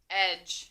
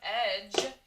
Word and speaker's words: edge: And D-G-E at the end of the word doesn't say ga. It doesn't say da, ga, or eh. When all three of those letters are together, they say ja, which is the soft G sound.